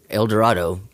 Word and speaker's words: El Dorado: elevator that said direito is pronounced like tornado so that's how I know well priority prior to getting there I was like Eldorado that's what I thought